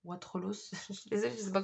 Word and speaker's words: Wattrelos: papillons blancs de wattrelos wattrelos se prononcent plonge le s on prononce pas voilà alors je